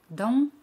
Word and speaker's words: dans: J'habite dans une grande maison. Dans significa in o dentro. Dans. Ese al final no se pronuncia. Dans.